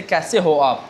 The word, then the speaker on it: कैसे हो आप: Okay, how do you say, you know, how do you say kaise ho aap?